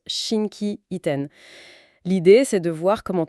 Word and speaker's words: 心機一転: Et cette expression c'est Shinki iten qu'on prononce Shinkien.